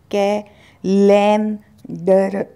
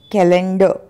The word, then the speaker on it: calendar: कैलेंडर नहीं भूलना इससे के लन डर नहीं कैलेंडर कैलेंडर कैलेंडर थोड़ा सा अभ्यास करेंगे